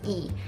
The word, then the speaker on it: Lee: And Lee also, we pronounce it as E.